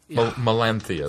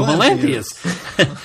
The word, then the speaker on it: Melanthius: Melanthius. Thank you, Melanthius. I had Melanthius. To see it in order to pronounce it.